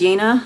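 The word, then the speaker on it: Jena: book and that's pronounced yena I was pronouncing in Jenna but it's actually pronounced yena so j-e-n-a 1800.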